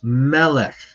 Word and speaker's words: melech: on the last syllable and seglet nouns it's on the second last syllable it's melech and cepher and then bulk air